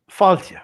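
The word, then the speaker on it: fáilte: Faltia.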